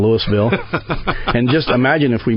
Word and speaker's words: Louisville: cuz they don't know what to do with that silent S in Louisville.